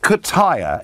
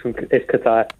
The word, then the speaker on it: Qatar: Is it Kataya? Is that how I pronounce it, James? Yes, Nigel, yes, it's Qatar. Qatar.